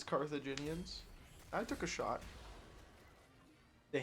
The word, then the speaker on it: Carthaginians: my board doesn't have any theme holy he pronounced it correctly it's carthaginians I took a shot the Hannibal guy is